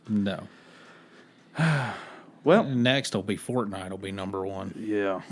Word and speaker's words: Fortnite: like I was like no I don't play fork knife and they're like they're like no it's fortnite I was like I was like what I